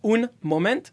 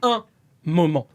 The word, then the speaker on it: un moment: The hard part is just not saying un moment. It's saying un moment.